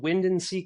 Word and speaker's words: WINDANSEA: My company's called WINDANSEA Coffee. It's spelled WINDANSEA Coffee. Kind of spelled funny, but that's the name of the beach here in La Jolla.